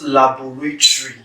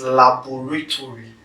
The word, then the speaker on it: laboratory: get from laboratory laboratory it's not laboratory it's laboratory so you need to get each of those syllables correct so it's not labor five syllables so we need to